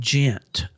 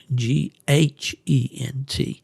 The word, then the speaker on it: Ghent: The nearest, there's an exit there, I'm trying to say, in a town called Gent, and that's spelled with an H, Ghent. But before you get to